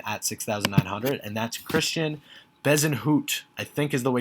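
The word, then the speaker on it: Christiaan Bezuidenhout: which is the reason the pronunciation is a little different than the french pronunciation uh but if you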